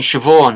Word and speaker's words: Siobhan: Yeah, it is because I mean, Siobhan is SI, right? It's like, how does that make a sound? But it does in Ireland, just and not Sorsha, here.